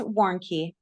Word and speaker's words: Warnke: tell us your last name so I don't mispronounce it. Sure, it's Warnke. Warnke.